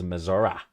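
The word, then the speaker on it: Missouri: from Le's Summit Missour even though it doesn't end in an a I will pronounce it as maora but she says you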